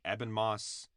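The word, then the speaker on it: Ebon Moss-Bachrach: Eben Moss.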